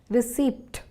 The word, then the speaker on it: receipt: Here the P is silent. By this, I mean that when saying the word receipt, that's R-E-C-E-I-P-T, we do not make the P sound. Therefore, it's not receipt, but receipt.